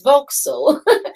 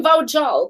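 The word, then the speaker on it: Vauxhall: yeah yeah you're in voxel you know it's voxel i'm in vaujal because in albania as you hear the words that's you you pronounce like kind of letter by letter we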